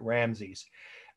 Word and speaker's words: Ramesses: It was built by Ramesses. I always pronounce the way I've always heard it, Ramses.